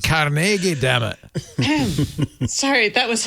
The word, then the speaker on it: Carnegie: Nor should advertisers, but it's pronounced Carnegie.